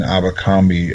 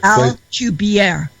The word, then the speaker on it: Alcubierre: be, as far as using Abercrombie. If I don't say it right, you can correct me. Drive. Alcubierre. Alcubierre drive.